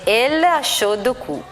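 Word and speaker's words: L.H.O.O.Q.: Infatti le lettere L H O O Q pronunciate in francese danno origine alla frase Lod Q letteralmente significa lei al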